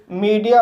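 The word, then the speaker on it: media: ई आ होता है for example मीडिया इस वर्ड में एम को मा पढ़ेंगे ई को ई पढ़ेंगे डी को ड पढ़ेंगे आई को ई पढ़ेंगे ए को आ पढ़ेंगे इस तरह से से मीडिया पढ़ेंगे और मीडिया मीस होता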